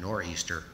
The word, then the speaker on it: nor'easter: England on or Easter which is a corrupt English pronunciation for northeastern a northeastern storm called a nor'easter sweeps into New England